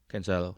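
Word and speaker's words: Cancelo: I'm excited to see cancer how do you pronounce his name can sell or console can sell all right thanks and um but asana has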